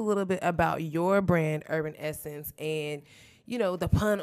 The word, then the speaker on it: Herbn Essence: when people say herb the h is silent or the ellen salmon yeah salmon not salmon no but urban essence is all about our